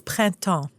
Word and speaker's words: Printemps: So, like I said, uh, French luxury department store, PrintMemps. Susie, can you do the French pronunciation for us? Sure. It's Prento. Let's pretend I said it that way.